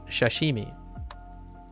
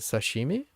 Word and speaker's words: sashimi: still on loan is shashimi wait is it shashimi or shashimi wait actually I've never written it out before is it Sashimi oh sa Sashimi Sashimi yeah Sashimi yeah I see this is